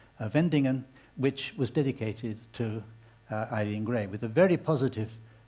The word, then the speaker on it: Eileen: The French have a lot of difficulty pronouncing the word Eileen with an E, I-L-E-E-N. To make that sound in French, it would be spelled A-Y-L-E-E-N. So French people think it's Hélène.